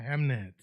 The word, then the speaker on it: Hamnet: Yeah, but the movie's called Hamnet. The Running Man was really good. Five Nights at Freddy too. So it's spelled Ham. Yeah. E-T. Hamnet. Hamnet.